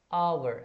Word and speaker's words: hour: आपको यही देखना है, जैसे आवर, HOUR, तो यहाँ पे एन का यूज होगा क्योंकि हम इसका प्रोनाउंसिएशन आवर ऐसा पढ़ते हैं ना।